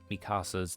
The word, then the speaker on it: Mikasa: Mikasa's name, you want to go Mikasa because everyone's used to hearing like Spanish and everything, right?